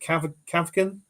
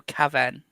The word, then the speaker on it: Caven: Is it Kavkin? Fabrizio Caven. Caven, there you go.